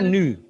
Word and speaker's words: nu: Bacanya nu.